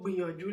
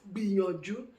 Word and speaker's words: gbìyànjú: It is written as G and B written together, but we don't pronounce it as GB.